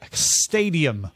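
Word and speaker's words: Xtadium: monoscopic VR through the stadium platform it's Stadium because you spell it with an X all games can also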